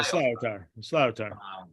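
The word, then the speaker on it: sliotar: I could not find a record anywhere of us playing slyotar. Am I pronouncing that correctly? That's correct, Paul. Yeah, slyotar.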